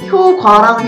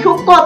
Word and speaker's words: 효과: 방송을 시작하기 전에 사과를 드릴 게 있는데 저희가 찾아보니까 작년 연말부터 효과의 발음이 효과랑 효과 둘 다 표준 발음이라고 인정이 됐더라고요. 저도 몰랐어요. 네, 사과를 드립니다. 효과도 맞는 발음이고 효과도 맞는 발음입니다.